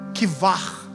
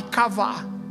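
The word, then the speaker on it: קוה: Quando a Bíblia traz essa expressão, esperei com paciência, a palavra original no hebraico é a palavra kivar, se for para a gente pronunciar perfeitamente. Mas eu vou falar aqui kavá, que é, você conhece,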